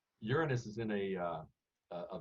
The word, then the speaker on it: Uranus: in other words um uranus and we pronounce it that way to cut down on jokes uranus is in a uh